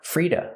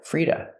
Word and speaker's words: free to: We hear to pronounced as duh, Frida, Frida. Because the T is between vowels, it changes to a fast D. And the vowel is relaxed.